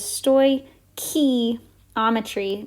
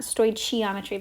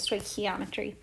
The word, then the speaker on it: stoichiometry: this is called stoichiometry so that's how you pronounce this so this is stoy key ometry don't not not chi not stoichiometry but stoichiometry so stoichiometry has to do with the law